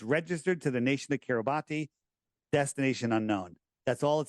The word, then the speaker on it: Kiribati: And do a little research into Kiribati. Now look at that's not how it's pronounced, but that's how it's spelled. Kiribati with a T. B and a T, right?